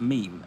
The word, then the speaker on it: meme: is a secret no he didn't pronounce it mimi he pronounced it meme and his name was